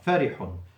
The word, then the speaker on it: فرح: The first letter a فتحة, second letter a kasra, and the third letter to ضمة. فرح. فرح, what means very glad.